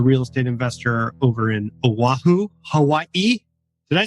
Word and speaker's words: Oahu: He's a real estate investor over in Oahu, Hawaii. Did I say that right? Is that how you say it? You're repping from Hawaii, Oahu, Hawaii.